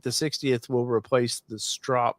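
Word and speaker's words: Stroppe: So Rob's asking, do you think the 60th will replace the strop? Did I say it right? Strop? You did. It's like stop sign.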